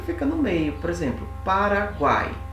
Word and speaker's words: Paraguai: São 3 vogais aqui, 3 sons vocálicos. Só que esse A, ele é mais forte. Então ele fica numa sílaba só. Paraguai. Guai. Ó, as 3 vogais em uma sílaba só.